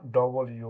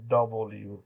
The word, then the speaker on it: W: ভাইব্রেশনে বাতাসটা বেরিয়ে যাবে ভি আমরা বলি ভর উচ্চারণ এটা ডব্লিউ না ডবল ইউ না একটু ঢেউ দিয়ে বলা হয় ডব্লিউ ডব্লিউ তারপরে এক্স এটা হচ্ছে দুইটা দুইটা অক্ষরের